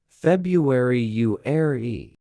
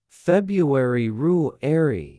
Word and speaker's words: February: Most people say February. The correct pronunciation is February. That R after February is important. Many learners skip it entirely.